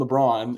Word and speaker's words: Lebron: because I wanted to make sure it was LeBron and not like a different pronunciation. Yeah. And I didn't sound like an idiot. But as far as I know, it is Scarlin LeBron.